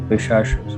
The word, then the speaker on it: Pishacha: I think this is in Kerala we pronounce it as Pishash. So I think this is something on the same lines. So it is Yeah. Pishacha. Yeah, exactly. Pishacha.